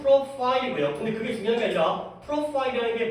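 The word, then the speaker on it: profile: 또 해 것 같아서 우리는 프로필이라고 읽지만 실제 영어 발음은 프로파일이고요.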